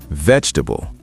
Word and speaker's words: vegetable: Word number 7, vegetable. Vegetable. 4 syllables? No, 3 syllables. Vegetable. Drop the middle E sound. Vegetable, not vegetable.